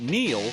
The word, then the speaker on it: Neel: It's no coincidence that Neel rhymes with deal, because that's something you could always count on with the leader in tires and auto repair for nearly a century.